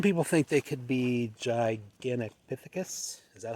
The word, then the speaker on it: Gigantopithecus: well, some people think they could be Gigantopithecus. Is that how you pronounce it? Yeah, Gigantopithecus, yeah.